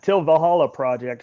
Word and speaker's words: Til Valhalla Project: The Til Valhalla Project.